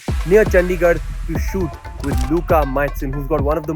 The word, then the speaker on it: Luka Majcen: This is In the Stands with Luka Majcen. I pronounced your name correctly, right Yes, Luka?